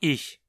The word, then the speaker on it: ich: O ich propriamente dito não costuma reduzir muito ou se tornar enclítico. A pronúncia continua ich.